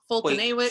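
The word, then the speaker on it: Foltynewicz: How do you say that? Fultonawicz. Yeah, like Fedorovich.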